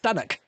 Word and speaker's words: Stanwick: It's spelled Stanwick, Stanwick Lakes. It's not pronounced Stanwick Lakes, it's pronounced Stannock.